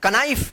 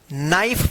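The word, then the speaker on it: knife: ई इसको क्या पढ़ेंगे कनाइफ नहीं नाइफ पढ़ेंगे क्या पढ़ेंगे इसको नाइफ यहां पे जो है ना के जो है ना ये साइलेंट रहता है के का उच्चारण नहीं होता है।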